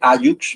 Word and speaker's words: hallux: Se escribe hallux, ¿verdad?